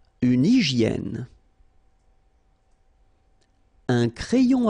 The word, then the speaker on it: hygiène: So remember, we've got this Y here, vowel, and it's pronounced like E, okay? Hygiène. H doesn't exist, H doesn't exist in French, so hygiène.